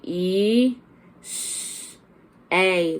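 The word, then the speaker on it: Esha: my name is pronounced my name is pronounced E A lot of people pronounce my name as but it's e e e e e e sh e sh say it with me e sh a that's e s h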